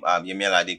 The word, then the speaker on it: Yemi Alade: Like, he was trying to pronounce Yemi Alade, say Yemi Alade Alade.